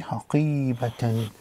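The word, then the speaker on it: حقيبةً: Now, one thing to note here is normally when there is no ending vowel, the if there's a normal vowel, this pronounces as an a, or it'd be haqiba, haqiba. But because there's a fatatain there, it'd be haqibatan.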